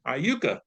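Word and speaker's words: Iuka: viewers on YouTube to to know uh correct pronunciation is Corinth, Mississippi and Aayuka, Mississippi.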